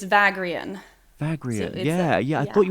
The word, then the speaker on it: Vagrein: time for us well i'm pronouncing it the only way i know how to read it because i've never heard the name it's vagrian yeah yeah i thought